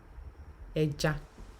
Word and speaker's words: ẹja: It's pronounced ẹja. Ẹja. You pronounce it as if you want to pronounce a word like elephant.